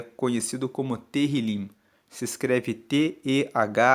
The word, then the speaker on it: Tehillim: Salmos, no texto original, no texto hebraico, ele é conhecido como Tehillim. Se escreve T-E-H-I-L-I-M. Tehillim significa louvores.